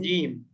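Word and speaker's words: جيم: তার মধ্যে প্রথম আছে জিম জিম জিমে একটু জোর দিয়ে বলতে হবে জিম নাকি হ্যাঁ জিমে একটু জোর হবে বর্গের জতে জোর দিয়ে হবে জিম জিম তারপরে হা এই হা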